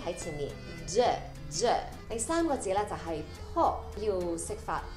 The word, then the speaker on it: Peau: e 呢个音啦，e，之后就加个 d 在前面，the the。第三个字就是 po，要识发 o 呢个音啦，o o o，再加个 p 在前面 po。第四个字咧同第三个字的音是一样，不过今次就加个 b 在前面，bo bo te， so it's clé de po bo te。第二個品牌就是 Chant Tu Kai，這個品牌的創辦人就是一位法國人，所以這個名字就是他的姓來的。第一個音是用 SH 發出來